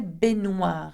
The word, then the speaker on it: baignoire: You don't hear the n sound as much. You say baignoire. Okay, can you say that? You nearly completely omit the G here.